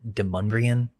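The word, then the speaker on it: Demonbreun: And by the 1760s, there's this French-Canadian guy named Timothy Demonbron. The locals pronounce it Demonbrian. It's spelled demon though.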